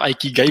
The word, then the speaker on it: Ikigai: buat ngebaca yang namanya Ikigai atau Aikigai bacanya gitu. Kalau gue sih baca bisa Ikigai sih.